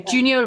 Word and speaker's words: Giunio: 1972 attempted coup by Junio? Do you do the J's? Yeah, you pronounce the J. Okay, Giunio Valero Borghese in Rome, where the far right tried to seize power in the country.